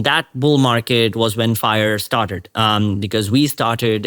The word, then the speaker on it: 5ire: IR right um um so you pronounce it fire though but so fifth Industrial